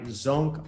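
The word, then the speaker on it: Sönke: so it's highly recommended book it's uh by zonk orange it's spelled s o with the two dots above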